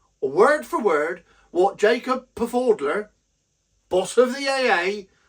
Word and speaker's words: Pfaudler: That's Pfaudler. I'm sure the P is silent, like the T in lettuce.